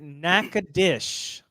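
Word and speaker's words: Natchitoches: to guess all right we pronounce it naad dish which I know seems insane but we have a lot of a lot of names in Louisiana that if I told if I showed y'all the word shopa toist You' your mind would be just melt out of your brain out of your ears n aadish all right natch your tits clever and kind of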